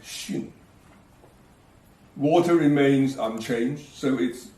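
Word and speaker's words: 巽: Above is the old pronunciation sun. Now it is pronounced xun.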